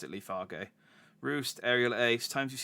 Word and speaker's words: Leafage: calling it i'm pronouncing i know it's probably pronounced leafage but um it's funnier to me to pronounce it lee fargo roost aerial ace times you've seen that you